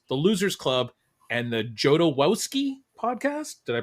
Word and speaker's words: Jodorowsky: Movie Survival Podcast, the Losers Club, and the Jodorowsky Podcast. Did I pronounce that one right, Julia?